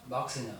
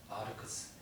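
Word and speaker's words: Marx: 할 때 마르크스냐 막스냐 우리는 지금 표준어가 마르크스로 되어 있거든. 근데 막스로 대다수가 찬성했어. 일단 맑을 막자를 떠올린다. 막다. 두 번째 마르크스는 일본식 발음이다. 마르크스.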